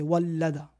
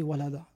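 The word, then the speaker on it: وَلَّدَ: Il était mentionné avec une shedda et ils l'ont prononcé sans shedda. » Alors le mot avec la shedda ici, c'est wallada. Et eux, ils l'ont prononcé walada.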